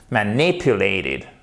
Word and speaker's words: manipulated: manipuler les manipuler ok vous avez votre accent tonique second de la deuxième syllabe manipulated ok c'est pas manipuler